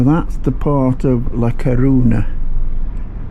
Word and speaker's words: Coruña: I think the proper pronunciation is Coruña, but as you can see, that's where we were, but this is the port.